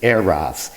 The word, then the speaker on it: eros: It's actually pronounced eros, not eros or eros or eros, but it's eros.